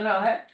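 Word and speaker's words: Raahe: We have the old town of, please help me pronounce this. Rahe. Yeah, Rahe.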